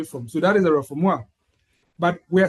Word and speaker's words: refoulement: Refoulement is a French word, although it's written reformant, but refoulement, that's how they pronounce it.